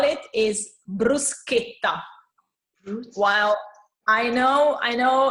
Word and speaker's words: bruschetta: the the correct way to call it is bruschetta while I know I know in the u.s. you call it bruschetta because of the CH that you pronounce instead is bruschetta so this is really important for us okay